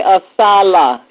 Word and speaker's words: ASALH: We say assala. Repeat after me.